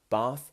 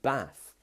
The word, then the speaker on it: bath: Bath and bath. But in the southwest, where I'm from, we can say either. And that's another one. Either or either. Doesn't matter how you say it how you want. Either, either. Bath, bath. So it doesn't matter. But if you want to sound like you're more trained to speak from the south, then you would say bath.